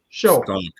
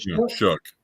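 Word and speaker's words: Shough: The way it sounds is not the way it's spelled.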